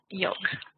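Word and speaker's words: yolk: white ya know okay yoke yeah it's almost as though the L isn't there almost as though it's spelled with an e on the end for example very good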